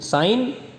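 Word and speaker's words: sine: बच्चे उसको अक्सर बदल देते हैं। साइन, साइन को सीन कहते हैं, सीन नहीं है ये। साइन, कॉस, ten, cosec, sec एंड कॉट।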